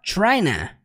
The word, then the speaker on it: tryna: Presta atenção nisso aqui, gente. Quando ele fala trying to, ele não fala trying to do, que é o que nós temos aqui exatamente, né? Trying to do. Quando ele fala trying to, ele simplesmente contrai para tryna.